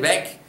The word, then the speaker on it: weg: It does make more of a K sound at the end, weg, net weit weg.